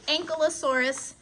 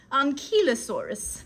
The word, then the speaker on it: Ankylosaurus: That is the Ankylosaurus. Now, I've also heard the Ankylosaurus, and for those in Britain, the Ankylosaurus. Now, how you pronounce this is entirely up to you. I like Ankylosaurus.